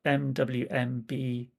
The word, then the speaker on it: Mwmbwls: Yeah, I live in Mumbles in South Wales, but in Welsh it's spelled MWMBWLS.